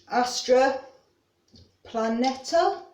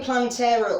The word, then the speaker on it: Astra Planeta: to all morning, and Astra Planeta. I've been saying Plantera all blooming morning and adding letters in when there shouldn't be.